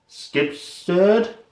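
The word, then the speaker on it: Skibsrud: It is The Sentimentalist by Johanna Skibsterd.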